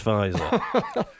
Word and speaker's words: Pfizer: Yeah, I'm going to see MC Fizzer, you're pronouncing it wrong. It's Pfizer.